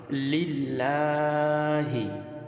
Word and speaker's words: লিল্লাহি: আল্লাহ শব্দ এই তাসদিদ তাসদিদের ডাইনে জের হলে আল্লাহ শব্দটা পাতলা করে পড়তে হয় যেমন লিল্লাহি এটা আল্লাহু লিল্লাহি আমরা